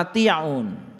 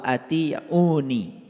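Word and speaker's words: وأطيعونِ: Fattaqulaha wa ati'un. Nah, ini sebetulnya dibacanya harusnya fattaqulaha wa atiuni. Dibacanya harusnya begitu.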